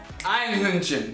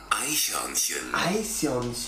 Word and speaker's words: Eichhörnchen: Einhörnchen. Mine was Einhörnchen. Eichhörnchen. Eichhörnchen. Hey, listen, Digga.